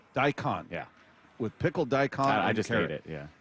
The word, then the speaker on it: daikon: Daikon. Daikon. Yeah, with pickled dicon.